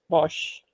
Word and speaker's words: Bosch: बॉश Posh.